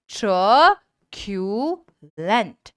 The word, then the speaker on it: truculent: Pronounce करेंगे मेरे साथ में। ट्रक्यूलेंट।